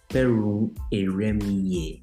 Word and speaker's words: Kperrun-Eremie: Today, with me in studio is Elizabeth Kperrun-Eremie. I hope I got the pronunciation correct.